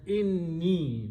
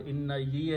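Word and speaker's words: إني: So when you combine these two, they are pronounced as inni, not inna ye anymore, inni.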